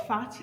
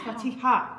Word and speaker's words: Fatiha: It's fatty. She wants us to say fatty, but it's fatiha.